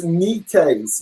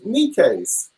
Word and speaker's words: Necaise: It's Necaise, like a kneecap and a briefcase. Necaise. Ah. Necaise. Yeah. Thank you. Like Nico Case, except no O.